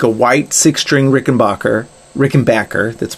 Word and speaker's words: Rickenbacker: white six string rickenbacker rick and backer that's pronounced rick and backer playing playing playing wasted